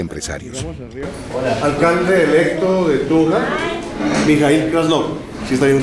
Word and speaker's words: Mijaíl Krasnov: Alcalde electo de Tunja, Mijail Krasnov. ¿Sí está bien pronunciado?